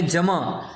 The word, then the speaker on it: جمع: جیسے ہم پڑھتے ہیں جمع، تو وہ جمع اردو کے لحاظ سے کسی حد تک کہہ سکتے ہیں، ٹھیک ہے، لیکن اصل میں لفظ ہے جم. عین لکھا جائے گا لیکن پڑھا نہیں جائے گا.